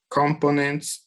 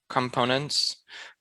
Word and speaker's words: components: So just a heads up, this word can be pronounced in two different ways. The way you did, which is components, but the way I'm usually used to pronouncing it is components.